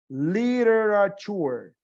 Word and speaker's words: literature: Ojo, inglés americano lo va a pronunciar con eres, donde ven una T. Literature. Excepto esa última T es tour.